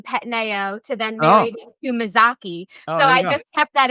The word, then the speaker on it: Mazzocchi: Let's bring in um Mazoki. Am I pronouncing that right or did I forget already? It's Mazaki. That's Mazaki.